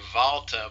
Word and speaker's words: Walter: um Walter Walter or since he's a German I should really say valter but anyway Walter vet